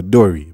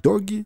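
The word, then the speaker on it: Dorry: leaving Dory and brogie I remember last time I actually mispronounced Dory by saying something like doggy well that's a that's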